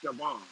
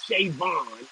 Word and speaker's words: Siobhan: I pronounced it Siobhan. Oh, okay. I pronounced it Siobhan, and then the lady was like, "No, it's Shavon."